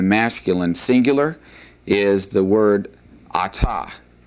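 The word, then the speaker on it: את: And then if we wanted to say we in the plural, this is what you're looking at right here, and that'd be anachnu, anachnu.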